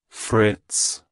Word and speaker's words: Fritz: It's pronounced as Fritz. Fritz. Fritz. To pronounce it correctly, emphasize that the Friday sound and end with a soft TS.